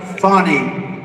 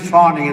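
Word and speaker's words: Fani: it's it's actually pronounced fonnie it's F A an I but you pronounce it fonnie a little French accent there funny but that's a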